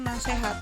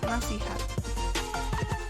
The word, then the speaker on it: nasihat: bukan e-choo toh lainnya pada kata nasihat dilafalkan nasehat semestinya nasihat yang sejuk pelafalan fonem